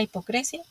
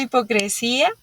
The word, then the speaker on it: hipocresía: capitales son la imprudencia la hipocresia Perdón la hipocresía con acento en la segunda I y la soberbia qué